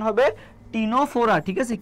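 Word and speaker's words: Ctenophora: ক্যাটে কি, ক্যাটে সিতে হচ্ছে কি সিওলোপ্লানা, এতে কি, এতে হচ্ছে অ্যানথ্রোজোয়া, আর টিতে কি বলতো, এই সিটা উচ্চারণ হয় না, টিনোফোরা উচ্চারণ হয়। কি উচ্চারণ হবে, টিনোফোরা।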